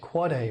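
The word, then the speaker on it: AAAA: It's pronounced quad A record. That's the IPv6 address of a host. The quad a name was chosen simply because the length of an IPv6 address is four times as long as an IPv4 address.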